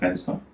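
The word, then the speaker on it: handsome: हैंडसम, इसमें भी एस से पहले डी है, अगर डी साइलेंट भी हो जाता है तो उससे पहले एन है, उच्चारण हो रहा है हैंडसम।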